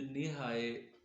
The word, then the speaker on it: NiHi: तो दोस्तों, मैं जो लोग नए हैं उनके लिए ये जो नी हाई डिवाइस मैंने ईजाद की है, नी हाई स्पेलिंग है NIHI।